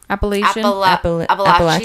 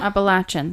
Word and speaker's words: Appalachian: I gotta love the Appalachian. What's the other way we say it? Appalachian? Appalachian. That's how they say it.